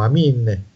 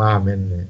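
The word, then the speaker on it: Αμήν: Se voi andate su internet e vedete, non so, una preghiera greca, alla fine dicono Amin, non dicono Amen, Amin, perché si legge I.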